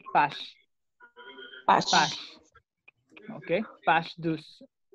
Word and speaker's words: page: Se escribe igual que en inglés, pero no vayan a decir page. Se dice page.